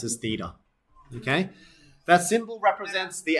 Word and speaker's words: theta: This symbol is spelled this way and it's pronounced as theta.